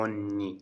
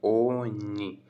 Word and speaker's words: ogni: ये हो गया एवरी, हमेशा, तो उसको बोलते हैं ओन्नी। जो जी है वो रहेगा साइलेंट, ओन्नी।